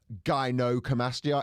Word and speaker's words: gynecomastia: By the way, it's gynecomastia.